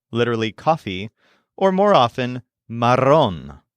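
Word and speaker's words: marrón: coffee or more often Maron spelled m a r r o n with an accent on the o Maron for example it's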